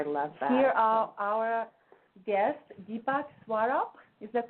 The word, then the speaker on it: Deepak Swarup: Bravo yes I love there are our guests Deepak swaro is that correct way to say it you